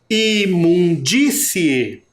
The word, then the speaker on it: imundície: matéria percebem essa diferença observem aqui nessa última palavrinha disse vamos separar essa palavra ela tem uma duas trê e quatro sílabas a última sílaba é C A penúltima é o de a antepenúltima o m e a primeira é o i imundície tá vendo que esse som é diferente o acento É diferente não é um som mais forte que parece que sai forte pela boca imundície então nós temos as